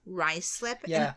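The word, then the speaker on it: Ruislip: rlip you're close what is it Ry slip rice slip this London isn't it yeah it's Northwest London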